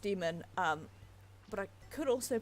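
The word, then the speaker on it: daemon: I've seen it pronounced demon but I could also pronounce it Damon Damon as in the name but I'm basing that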